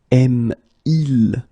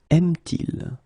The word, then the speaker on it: aime-t-il: Il aime, aime-il will become aime-t-il.